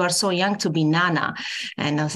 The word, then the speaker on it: Nana: saying my name correctly my name is Nana not not Nana and even